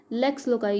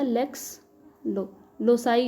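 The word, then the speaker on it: lex loci: यहाँ पे लेक्सी नहीं होगा, सॉरी, यहाँ पे होगा लेक्स लोसाई इसको प्रोनाउंस करते हैं, लेकिन इंडिया में हम लोग इसको सी को कब प्रोनाउंस करते हैं, इसलिए हम लोग बोल देते हैं कि लेक्स लोकाई, लेकिन इसका प्रोनाउंसिएशन होता है लेक्स लोसाई।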